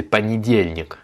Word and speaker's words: понедельник: Donc comme on l'avait vu, hein, le O et le Y, ces deux lettres-là ne sont pas accentuées et donc se prononcent A et I. Donc c'est понедельник.